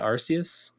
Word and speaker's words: Arceus: Arceus, I think Arceus is the official pronunciation there.